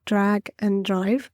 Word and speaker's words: Drag x Drive: I think it's called Drag and Drive, but it's written down as Drag X Drive, but apparently it's pronounced "and" for some reason.